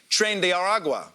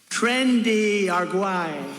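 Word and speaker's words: Tren de Aragua: ICE has been rounding up any immigrant who they suspect is a member of the Venezuelan gang trend aragua or as Trump pronounces it trendy aruay muen sor presidente.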